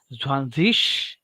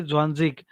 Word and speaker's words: Zwanzig: The people can say Zwanzish or the people can say Zwanzig. Right, last में ग भी बोल सकते हैं और एस एच श भी बोल सकते हैं. So both the pronunciations are correct. Most of the people they will say Zwanzig, so we will follow that.